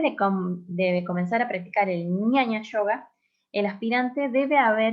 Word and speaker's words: Jnana: Pasa que se puede Ñaña. escribir de esta forma, o la G y la ñ, pero se pronuncia Sí. ñaña.